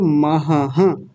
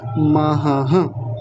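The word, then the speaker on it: महः: इसके आगे जो महाहः ये वाला है। आप में से ज्यादातर लोग क्या बोल रहे हैं? केवल महा बोलकर छोड़ दे रहे हैं। जबकि पूरा क्या है? यह महाहः ऐसा।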